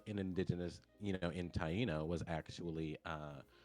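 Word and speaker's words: Taino: the uh so barbecue comes from the indigenous tyo word which tyo are the indigenous people of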